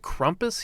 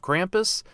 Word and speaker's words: Krampus: get evidence of krampus oddly they pronounce it krumpus here instead of krampus i could be in